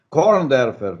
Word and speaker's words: Korndorfer: Eu estou recebendo o doutor Korndorfer, Deutschland, uma pronúncia aqui alemã, Korndorfer, nascido lá em Novo Hamburgo, Rio Grande do Sul.